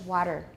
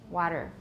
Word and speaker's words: water: For the English, American English, water. Water. That's a duh sound, right?